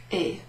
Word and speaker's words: et: So normally when you're using that word et, you don't pronounce the T.